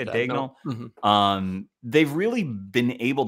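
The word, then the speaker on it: Daigneault: Dagnall?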